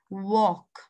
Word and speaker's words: walk: this boy walk and i'll hear silent okay walk let's go to number three skateboard where is